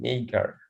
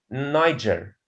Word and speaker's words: Niger: This is Niger, not Niger. But why we pronounce it like this? The word Niger is purposely mispronounced so that it rhymes with tiger.